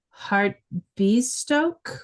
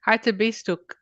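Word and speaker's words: Hartebeesthoek: Massacre the pronunciation but heart Bast Stoke radio astronomy Observatory you're so close it's harab beist okay harist better uh assuming that it was a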